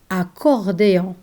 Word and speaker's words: accordéon: Double C or double C are read K, like in the word accordéon. Accordéon.